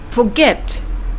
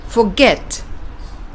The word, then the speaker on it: forget: Also with forget. It's not forget, but forget.